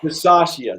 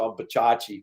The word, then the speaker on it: Bisaccia: Bisaccia, there you go. I was going to say Bachachi, but that's good too.